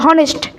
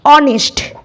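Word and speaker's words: honest: এটা কি হনেস্ট ম্যান তোমরা অবশ হনেস্ট এটা না এটা সঠিক উত্তর হল অনেস্ট অনেস্ট অইযে অনেস্ট মানে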